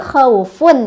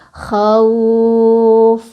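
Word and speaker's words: خوف: Kan tadi khaufun ya kalau disambung. Kalau berhenti jadi khauf. Jadi panjang. Selain dilunakkan dipanjangkan juga. Khauf gitu. Jadi bacaan yang salah misal khauf. Berhenti tapi pendek, salah.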